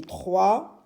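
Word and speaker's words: trois: Et 3, c'est T, R, TR, avec le son WA qui s'écrit OI. Et bien sûr la lettre S à la fin, lettre muette.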